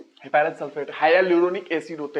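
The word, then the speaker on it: hyaluronic: Acid, high एल्यूरोनिक acid, HYA, हाया ल्यूरोनिक acid, हाया ल्यूरोनिक acid, हाया ल्यूरोनिक एसिड, ये पढ़ना सही से, प्रोनाउंसिएशन सही करना है, हाया ल्यूरोनिक एसिड।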